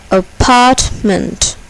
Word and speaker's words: apartment: Apartment. Apartment. Here, the second syllable is accented. Apartment.